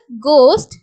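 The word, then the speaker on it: ghost: word வந்து start பண்ணும்போது ஜி யும் ஹெச் வந்துச்சுன்னா ஜி யோட சவுண்ட் கொடுக்கணும் ஹச் வந்து சைலென்ட் பண்ணனும் எக்ஸாம்பிள் வந்து கோஸ்ட் கெட்டோ இந்த ரெண்டு வேர்டும் இந்த மாதிரி நமக்கு வந்து ஜிக்கு அடுத்து ஹச் வேர்ட்ல ஸ்டார்ட் ஆகுதுன்னா அங்க ஹச் சைலென்ட் பண்ணிட்டு ஜி மட்டும் நம்ம ப்ரொனௌன்ஸ் பண்ணா போதுமானது அடுத்து இருக்கக்கூடிய ரூல் என்ன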